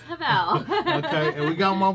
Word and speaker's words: Havel: We got Miss Harville right here. Did I pronounce that right? I answered a Havel. Okay. But it's Havel.